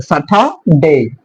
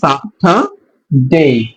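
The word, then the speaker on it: Saturday: টাকে উজ্জ্ব উজ্জ্ব থাকবে সাঠা ডেই সো আমরা যদি বাংলাটা দেখি তাহলে আমরা আরো ক্লিয়ার হবো যে দেখেন সাঠা ডেই সাঠা ডেই ডে টাকে ডেই উচ্চারণ করবো আমরা ডেই টাকে ডেই উচ্চারণ করবো সো সাঠা ডেই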